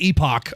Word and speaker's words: Epoch: Is it epic or epoch? Hello. How do you pronounce it? I get told all the time and I always forget. Oh, it is epoch.